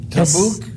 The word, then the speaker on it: tavuk: Can you spell that for us? Is a T-A-V-U-K. Tabuk?